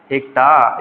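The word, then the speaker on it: hecto: हेक्टा या फिर हेक्टो जो भी आपके जो भी प्रोनाउंसिएशन होंगे उस तरीके से हम लोग उसको बोलेंगे। ठीक है?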